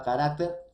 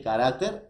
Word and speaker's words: carácter: debe excluir la palabra carácter porque música no es una palabra esdrújula así como sílaba así como número así como lingüística así como cardiólogo entonces carácter profesores en este caso sería un grave y ya no el